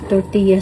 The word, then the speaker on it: tortilla: Ewan ko kung anong tawag ng ano, tortilla sa atin. Basta dito tortilla siya. Tortilla. Kung sa ano pa, sa Bisaya, tortilla. Kasi double L siya. Tortilla. Pero dito, yung double L, ang pronunciation niya, Y.